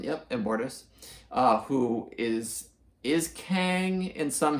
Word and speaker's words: Immortus: Yep, Immortus, who is Kang in some history, or I'm not even going to try to explain it because I don't really quite know.